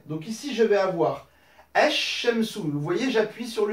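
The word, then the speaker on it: الشمس: Ici, on n'entend plus le soukoun sur le lem. On passe directement du E ici au shin. Sur le L, il ne se prononce pas. Esh Shemsu. Donc j'insiste bien sur le shin.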